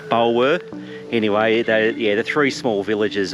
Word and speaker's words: Bulwer: always have trouble pronouncing these towns, but yeah, I think it's called Bulwer or not Beulah, not Ferris Bueller, Bulwer.